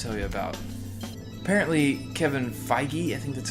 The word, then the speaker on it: Feige: I want to tell you about apparently Kevin feige I think that's how you say his name